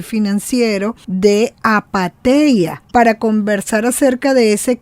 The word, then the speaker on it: Apatheia: Invitamos a seguir a Apateia en sus redes sociales, @Apateia73, se escribe con TH, Apateia, @Apateia73, o a Orlando en su Twitter o X, @Osuárez3.